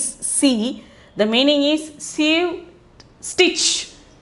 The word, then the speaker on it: सी: C means the pronunciation is C.